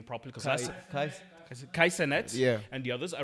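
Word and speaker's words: Kai Cenat: Kai Senet, Yeah.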